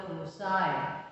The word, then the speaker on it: foci: Together they are pronounced as foci, F-O-C-I.